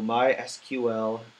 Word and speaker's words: MySQL: you want to do mysql database wizard you can pronounce mysql as my sql it really doesn't matter